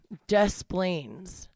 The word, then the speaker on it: Des Plaines: Des Plaines. I think I say Desplain. That's how I say it. Desplains. I say it like quick, but I do say the S.